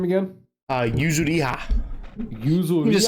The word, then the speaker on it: Yuzuriha: How do you pronounce her name again? Yuzuriha.